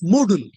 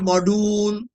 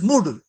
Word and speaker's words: Moodle: This should be pronounced as Moodle. People calls it a module, noodle. No, this is Moodle, Moodle, and better than noodles.